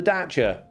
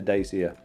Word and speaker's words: Dacia: not daisy's at all it's the dacha so they're also you know bad at spelling bad at pronunciation and bad at marketing because every person in the country calls it a dacia so yeah well done